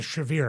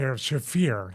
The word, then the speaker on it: Shafir: I think also I said it during the Willow Nightingale uh Marina Shave. I'll say Shafir. I said it wrong last episode.